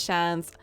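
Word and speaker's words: seans: The pronunciation of Shans is the same as Shans. Like chance, but with a sh at the start.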